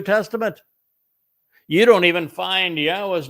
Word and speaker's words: Yahweh: Yes, it says Yahweh, which is the proper pronunciation of Yahweh's name, our Eloha, God, as directed by his Torah teaching regarding his high existence and our shalom restoration.